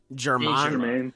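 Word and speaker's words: Saint-Germain: Saint Count Germain.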